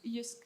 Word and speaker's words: Jysk: interaction between your brand or, how do you pronounce it? Jysk? Jysk.